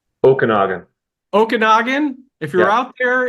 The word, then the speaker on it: Okanagan: nerd Earthworks so if you're in is it Okanogan did I say it right Okanagan Okanagan if you're out there and you need